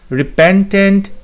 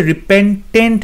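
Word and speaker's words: repentant: তারপরে অপশন বিতে হচ্ছে রিপেন্টেন্ট নয়, রিপেন্টান্ট, সো TA হবে, ই হবে না, রিপেন্টান্ট, সো অপশন বিটাও ভুল।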